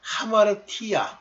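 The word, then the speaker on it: ἁμαρτία: 그런데 발음할 때요 앞에 뭐 아포스트로피 요걸 찍으면 하자가 됩니다. 저 전는 옛날에 아마르티안이라고 많이 읽었는데 하마르티안이에요.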